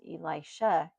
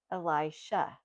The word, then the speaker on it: Elisha: There's Elijah, Elijah, and Elisha, Elisha.